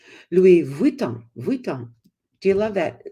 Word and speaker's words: Louis Vuitton: in there too and I found out it's Louis Von Von do you love